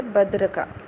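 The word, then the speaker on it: بدرقہ: کا set number 1199۔ درست تلفظ ہے بدرکا۔ بدرکا کے معنی ہے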